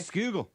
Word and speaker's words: Schuylkill: Skugel. It does not look like it's spelled.